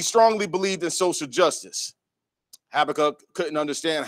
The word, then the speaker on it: Habakkuk: how to pronounce Habakkuk, there's actually two pronunciations for the way, you know, it's said to pronounce it. It could be pronounced Habakkuk or it could be pronounced Habakkuk. That was the two that I saw. But I'm going with Habakkuk.